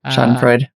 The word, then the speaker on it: Schadenfreude: The Schadenfreude, did I pronounce that correct? Yeah, Schadenfreude.